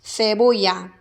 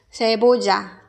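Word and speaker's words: cebolla: 이 2개가 한꺼번에 나온 양파라는 단어, 세보야. 스페인에서는 세보야. 그 다음에 아마도 멕시코에서는 세보자 이렇게. 그 다음에 아르헨티나, 칠레 쪽은 세보샤 이렇게 발음하지 않을까 싶습니다.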